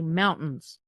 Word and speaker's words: mountains: Like, we have beautiful mountains here, but we don't pronounce the T. We say mountains.